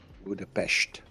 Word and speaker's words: Budapest: are in Budapest Hungary budapes it's actually pronounced that way budapes zi Is Here Yeah